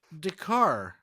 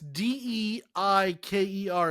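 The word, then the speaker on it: Dacre: It's pronounced Dakar. Dakar? Yeah, I'm already bad with pronouncing shit, and that's I don't know. I'm looking at the Wikipedia, and it's Deiker is phonetic.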